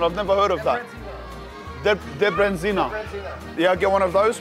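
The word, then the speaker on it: Debreziner: How do I pronounce the hot and spicy one? I've never heard of that. Debrenzina.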